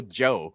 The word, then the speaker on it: Djo: So, he spells his band's name DJO, so it's still Joe, just people don't know how to say it.